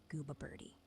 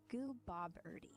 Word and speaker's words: Gooboberti: Gooa birdie. Mhm. You're you're kind of saying it wrong. Um you have to pronounce the the middle part. More like the word Bob. Like the name Bob.